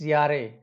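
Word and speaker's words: Jahre: For example सुम बाइस्पेल या, यारे, That is not Zahre, it's Yare.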